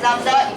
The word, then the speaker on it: lambda: It's pronounced as lambda.